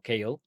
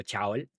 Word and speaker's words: Chaol: Kale o yo le yo lo digo como Kale, Kale Westfold, eh, pero pues si usted lo lee como Chaol de 10 porque al principio yo lo leí así y y pues se